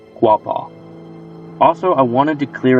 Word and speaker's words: Quapaw: In regards to the local Arkansas native tribe who shared stories of the living island in the river, it's pronounced Quapaw.